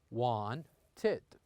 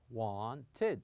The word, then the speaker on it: wanted: them has two syllables, like wanted here, we pronounce it like this, wanted, wanted.